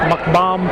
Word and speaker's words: McComb: McComb, C-O-M-B, comb, but it should be pronounced like a bomb, B-O-M-B. McBomb from McComb.